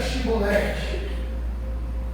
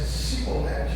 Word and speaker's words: Chibolete: de Chibolete. Se ele pronunciasse certos, ele abraçar seu filho, sua esposa. Mas se o seu soldar o traísse, ele disse seolete, ele ia cair morto.